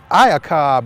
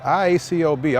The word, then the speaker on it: Iacob: Michael Iacob, I think is how you pronounce it, IACOB. All I've had to be concerned with was spelling it, but we're going to go with Iacob.